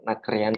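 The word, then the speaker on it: นักเรียน: Itu R-nya tuh kayak kalau semisal sekalian R sekalian, kalau semisal R-nya mau hilang atau diganti L sesuai dengan actionnya itu silahkan saja gitu. Tapi prefer nakrian itu R-nya kelihatan, jangan hilang enggak ada enggak gitu.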